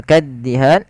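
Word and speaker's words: كَالدِّهَانِ: Kemudian lafal kaddihan tekan di huruf da-nya, kaddihan.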